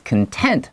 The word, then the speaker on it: content: 好，接下来说 For now 呢，目前呢 Haig is content 这个字的话，特别注意一下，如果当形容词的时候，它会念成 content。好，重音再放在后面 tent 的地方。有的时候你会听到这个字念成 content。content 的时候就变名词，就是内容的意思。那你说 Haig is content, that means satisfied or happy with creative freedom as an author.